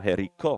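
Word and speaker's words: Jericó: Oh, last syllable, Jerico.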